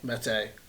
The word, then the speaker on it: Mete: So Kurt and I have messed with the SF, we've messed with the Meta, or Mete. Mete. That is the correct pronunciation. It is Canik Mete for all of you internet people.